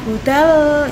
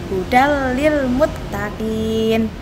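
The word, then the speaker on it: هدى للمتقين: seperti ini tadi hudallilmuttaqin Kalau bacanya budalo itu salah ya harus dimasukkan langsung tanpa dengung hudallilmuttaqin khasnya kedua lahaya pilih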